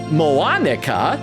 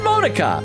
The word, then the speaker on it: Monica: Nora said, it's not Moanica, just Monica, like the American pronunciation.